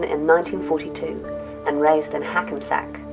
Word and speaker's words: Hackensack: 1942 and raised in Hackensack rhymes with never go back New Jersey but his